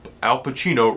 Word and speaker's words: Pacino: that Dunkin Donuts wants alpacino the legendary Oscar winner alucino to be in a commercial because Al alucino rhymes with cappuccino or Frappuccino I forget what it